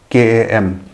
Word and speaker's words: KAM: So this initiative that KAM, how do you pronounce that?